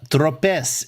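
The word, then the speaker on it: Tropez: stripes yeah uh uh tropes is Trope the last letter in a French word is almost always silent oh okay Trope okay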